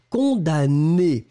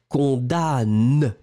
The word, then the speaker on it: condamne: et le verbe c'est condamner alors souvenez vous on écrit le m mais on ne le prononce pas d'accord donc verbe du